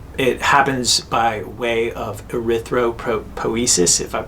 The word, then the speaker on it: erythropoiesis: power output um it happens by way of erythropoiesis if i'm pronouncing that right that's right that's just the